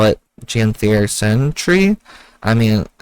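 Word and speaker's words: Syntri: There's also, I think they call it Janthier Sentry. I mean, it's like spelled differently than Sentry, but kind of, if I were to sound it out, looks like the word Sentry.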